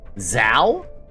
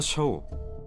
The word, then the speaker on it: Xiao: The X has a Z sound. That's even worse now. Zao? And where's the H? Zao!